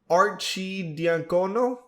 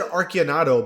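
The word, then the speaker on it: Arcidiacono: knicks they give ryan archie diancono you know i always said archanato but i guess that's not how you pronounce it but ryan gets a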